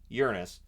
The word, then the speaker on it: Uranus: it is technically pronounced Uranus I know everybody's going to be giggling but it is technically pronounced that way so Voyager one and